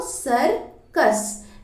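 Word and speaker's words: circus: इसको बोलेंगे सर और देखिए सी के बाद यू आया है तो सरकस यहां वाले का तो सा होगा और यहां वाले का का होगा तो इसका जो प्रोनंसिएशन है वो सर्कस है इसका उच्चारण सर्कस होगा तो आइए ये लाइन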